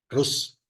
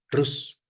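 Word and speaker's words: رز: hoy pero por ejemplo Cómo se dice arroz en árabe rus así rus pero rus no es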